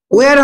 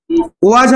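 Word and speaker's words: was: এ big house, ওয়ার হবে না, একটা তো, তাহলে কি হবে? ওয়াজ হবে, ওয়াজ। আমি জানি জায়গায় ওয়াজ এর বসবে, ঠিক আছে?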